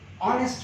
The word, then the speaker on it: honest: Honest man, here also H is silent and we pronounce with O.